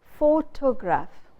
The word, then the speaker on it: photograph: Take another example. Photograph. Where do we put the stress? We put the stress on photo.